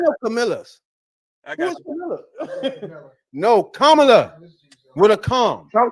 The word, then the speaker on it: Kamala: You just said it wrong. Camela. Is it Is Camela Kamala? No man, it's Kamla. It's Kamla with a comma.